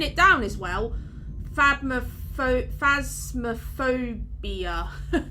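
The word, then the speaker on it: Phasmophobia: down as well phab phasma phobia i always pronounce it wrong i always call it like phasma phobica and saw something like that but it's phasmaphobia um there's the game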